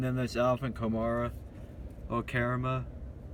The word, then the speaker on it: Kamara: And then there's Alvin Kamara, or Karama. Like, his name is pronounced weird. It's not how it's spelled. Kamara. Yeah, it's Kamara.